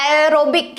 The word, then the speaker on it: aerobic: तो aerobic अगर आप प्रोनाउंस कर रहे हो तो उसमें से कोई साउंड आ रही है, एरोबिक यानी कि एयर, राइट, एयर जैसे साउंड आ रही है ना, तो एयर में क्या है?